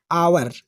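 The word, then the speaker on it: hour: एच ओ यू आर लेकिन okay पहले एक है तो हम इसको साइलेंट बनेंगे एच ओ यू आर the match को लिखेंगे लेकिन पढ़ने सके तो आवर बढ़ेंगे आप देख बढ़ेंगे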